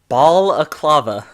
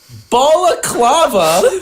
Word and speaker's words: balaclava: Balaclava. Balaclava, Spelled with 2 L's. like baklava. No, like balaclava.